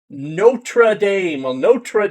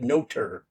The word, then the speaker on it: Notre: I don't know why people pronounce it noter. It's n o t r e, not n o t e r, unless I'm sorely mistaken here.